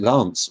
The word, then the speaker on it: LANC: Well, I suppose the apps that are allowing the LANC or Lance, I call it LANC. They apparently pronounce it Lance.